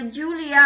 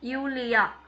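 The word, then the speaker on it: Julia: இப்போ ஜூலியா அப்படின்னு நம்ம இங்கிலீஷ்ல சொல்லுவோம். ஆனா அவங்க என்ன சொல்லுவாங்க? யூலியா. யூலியா. அப்படி சொல்லுவாங்க. சோ ஜே வந்து வையா ப்ரொனவுன்ஸ் பண்ணுவாங்க.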